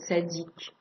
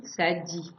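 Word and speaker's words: צדי: on le voit avec la lettre tadic qui peut nous se prononcer quelques fois aussi sadi qui veut dire mon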